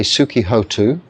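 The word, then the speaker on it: sukhī hotu: I don't know honu so I say Suki hotu it is spelled h o n tuu but Suki hotu is uh be happy really sukii is not really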